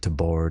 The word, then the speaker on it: tabard: you put on a tabard for yes it's pronounced to bard i don't want to see any in the